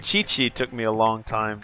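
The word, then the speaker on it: Qiqi: Yeah, you know I'm not good with the pronunciations. Like chi-chi took me a long time to figure out how to say correctly. I kept saying Kiki chaos.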